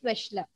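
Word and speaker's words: Wechsler: that is a spelling which slur but we pronounce it as vishla okay now whose intelligence tests are most widely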